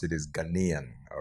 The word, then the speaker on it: Ghanaian: The correct way to pronounce it is Ghanaian.